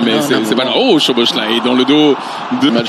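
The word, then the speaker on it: Szoboszlai: Oh, Choboslai dans le dos de match, vous le prononcerez bien, Choboslai, puisque c'est lui qui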